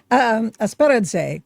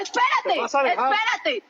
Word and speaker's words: espérate: She tells him no, and then she says, espérense, which means wait. I'm sure I said it wrong. No, güey. No, espérate.